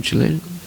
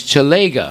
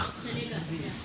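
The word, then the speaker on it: चलेगा: Kukum Chalena?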